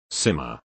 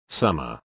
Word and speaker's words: Simmer: I read the name off the list as Simmer. The mom was pissed as it is supposed to be pronounced Summer.